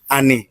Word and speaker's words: Ani: Ani. Yeah. Okay. We do say Annie. Ani. We don't say Abi.